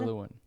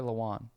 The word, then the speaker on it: Lewan: think I think it's Taylor Luen Luen yeah Luen no Taylor Lewan that's it it's Lewan yeah to where people keep